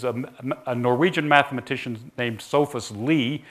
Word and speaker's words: Sophus Lie: Norwegian mathematician named Sophus Lie. So that's pronounced Lie, not Lie.